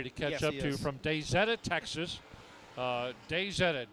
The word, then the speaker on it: Daisetta: I mispronounced it the first time ever, and he corrected me very quickly. And then every time I walk by his pits, he says, how do you say it? I say Daisetta, Texas.